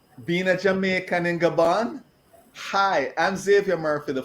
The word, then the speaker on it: Gabon: Gabon, yes.